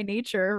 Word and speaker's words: Gnature: I'm at Gnarly by Nature, randomly. Love that, by the way. Most of my social media plus. So random. Nature spelled with a G-N because it's silent, because I thought I was clever at the time.